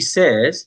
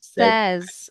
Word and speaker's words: says: Says says it looks like sa y so we say says. It is not says. Okay. It is says.